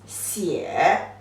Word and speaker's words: 写: 点竖一个 short 竖横折折横弯钩横横 The pronunciation is 写 It is a verb, means write. So 书写 put together this word means you write something.